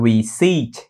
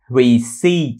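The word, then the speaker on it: receipt: các bạn đọc là rece rece các bạn thấy nè rece e rece cái âm p này câm nha Cho nên đọc là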